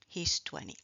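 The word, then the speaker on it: vingt: 20. Il a il a 20 ans. 20 ans. On ne prononce pas le G.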